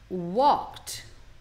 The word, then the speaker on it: walked: E aqui é legal a pronúncia também, ó. Walked. Não é walked, hein? Fica como se fosse o walked.